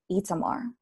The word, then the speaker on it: Itamar: One day, Fuad told me that the correct way, or the non-American way to pronounce his name, is Itamar.